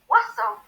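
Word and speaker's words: oiseaux: You pronounce bird in French as oiseau, and birds in French is oiseau. There's absolutely no difference in the way you say it.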